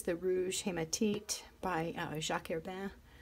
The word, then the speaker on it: Herbin: This is the Rouge Hématite by Jacques Herbin. That's how I say it in my pseudo-French accent. Urban, I've heard people pronounce it, but there's my mangled French version. Anyway, this to me looks very similar to this one.